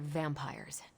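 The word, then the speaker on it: vampyres: The new breed I'm tracking are uh they're vampires. I see. No, I do not. You already said they were vampires. Vampires with a Y. Pronounced exactly the same as vampires.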